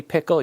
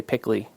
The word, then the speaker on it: pickle: Well, you say pickle, you don't say pickly.